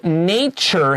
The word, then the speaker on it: nature: the word even though the word nature has a special pronunciation t is ch write down a ch above your t our next sentence says